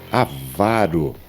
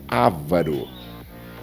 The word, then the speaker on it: avaro: Mais uma palavra, avaro, avaro e não ávaro.